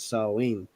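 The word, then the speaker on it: Samhain: date back to the ancient Celtic Festival of Sam Hayne which is pronounced saline the salts who lived two thousand years ago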